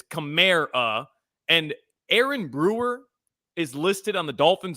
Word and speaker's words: Aaron Brewer: Kamar it's CA and Aaron Brewer is listed on the Dolphin's official pronunciation toin I'm maybe I'm just ignorant uh but it's a Ain Brewer Ain Brewer not Aaron a I feel like we've